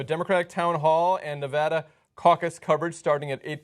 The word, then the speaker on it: Nevada: Tuesday we have a Democratic town hall and Nevada caucus coverage starting at 8:00 p.m. Eastern everybody say Nevada not Nevada Nevada Nevada Nevada and get ready for Colorado